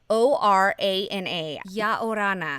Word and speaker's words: Ia Orana: So it's spelled IauRana. Ya Orana is how it's pronounced, and I hope I'm pronouncing that right.